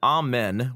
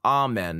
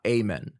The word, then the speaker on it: amen: I want amen, not amen. So I'll do two things. First, I'll separate this into two different syllables, and then I'll make the first syllable ah, A-H.